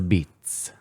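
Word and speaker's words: apizza: It's a Beats. It's not New Haven pizza. It's a Beats.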